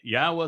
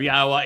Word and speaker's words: Yahweh: 1,000 other Hebrew words, the pronunciation of Yahweh is straightforward. It is irrefutable. The Yod, the He, and the Wah are all vowels.